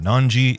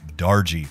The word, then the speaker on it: Darji: It is not Om Nanji, it is Om Darji.